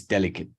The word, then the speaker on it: delicate: part of our vocabulary maybe like delicate and you say delicate no it's delicate so it turns into a schwa at the end delicate same with delicately delicately and paying attention where the stress lies delicately delicately delicately and delicate first syllable and we continuously have